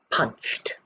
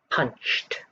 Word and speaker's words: punched: on to number four punched punched punched you can hear the t sound as well punched number five